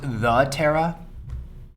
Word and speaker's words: doTERRA: for i work for doterra and he kind of shows the logo uh can i roll over here can i roll a culture check sure give me a call actually it's pronounced the tara you know that this